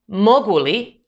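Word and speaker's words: mogu li: for the negative particle even though it's written separately you pronounce them as one word imashli tu yeshli or for example can i help you moguli de pomochi or do we like ice cream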